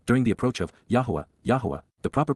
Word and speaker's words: Yahweh: behalf of La during the approach of Yahweh Yahweh the proper pronunciation of the name of eloah God as